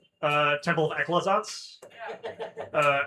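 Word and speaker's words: Aclazotz: The one thing in E that actually is spelled the way it's phonetically sounded and and well, it's and and it's because it's from a real thing.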